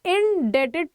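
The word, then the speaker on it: indebted: तो हमारा यहाँ पर देखो आई होप की पढ़ने में आ रहा है आई एम इंडेटेड टू यू. तो हमारा इंडेप्टेड का मतलब क्या होता है, इसमें बी साइलेंट होता है.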